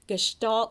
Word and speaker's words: gestalt: when they're learning language is that they are gestalt learners now what does that mean if that's